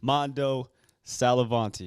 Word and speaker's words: Mando Sallavanti: Mando Sallavanti. Is that how you say it? Perfect pronunciation. So we got that's a first, bro. Come on, I'm not gonna man. lie. Let's go. Mando Sallavanti.